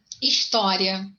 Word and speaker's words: história: A palavra história, ela tem a sílaba tônica na primeira, na segunda ou na terceira sílaba, de trás para frente. O que você acha? Na segunda, né? Na segunda, gente. Por isso que ela não é uma proparoxítona, ela é uma paroxítona.